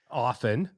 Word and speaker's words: often: Yeah, originally did have the T in pronunciation just like Doug said, but it became silent over time and so it gave you this thing.